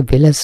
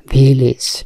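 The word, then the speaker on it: village: ভিলেজ শব্দটি দিয়েছে আমরা জানি গ্রাম, কিন্তু এর উচ্চারণটা কিন্তু ভিলেজ না, উচ্চারণটা ভিলেজ।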